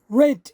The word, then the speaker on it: red: In the second painting, above the red cap is the net, which is pronounced red in Spanish, like the color, and adding the crown